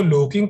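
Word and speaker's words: lurking: इसको लोकिंग pronunciate करते हैं, याद रखना, लोकिंग हाउस ट्रेसपास।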